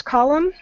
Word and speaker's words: column: column okay here's column it has an M and an end that again excuse me um but when we pronounce it the end is going to be kind of silent so don't stress over that in at the end